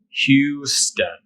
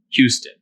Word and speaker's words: Houston: it's the name of the city itself it's pronounced Houston Q stun Houston this one you're just gonna have to memorize